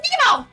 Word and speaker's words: Nemo: You didn't get it quite right, young lady. It's pronounced Nemo.